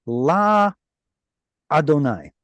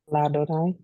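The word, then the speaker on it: לַאדֹנָי: So just like Aleph at the end of a syllable will quiesce, like we saw earlier with le, what was it, le more? I believe it was le. Yeah, like this Aleph right here. Do you see a vowel attached to the Aleph? Nope. That's because Aleph at the end of a syllable quiesces, goes quiet, which means it gets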